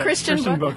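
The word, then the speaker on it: Christian Bök: it speak occasionally uh how do you pronounce that guy's name by the way book okay christian book yes it's his real name i'm not over the o so i was never 100 sure but it's that is it's a fascinating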